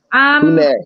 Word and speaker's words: punir: Pune. I think The proper puner. proper. Yeah, the R is silent.